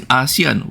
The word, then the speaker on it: ASEAN: Okay, and then for Singapore gets the baseline 10% tariff, the lowest in ASEAN, the lowest in Asian, the lowest in ASEAN, which is the correct pronunciation, despite a 30 billion